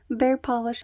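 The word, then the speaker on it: Paw Polish: So that was Bear Polish, and they spell it P-A-W, like a bear paw. Bear Polish, Happy Birthday again.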